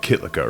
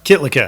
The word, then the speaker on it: Kytlica: All right, I guess it's Nic Kytlica, right? Or is it Kytlica? Kytlica. Kytlica, okay. You said it right the first time.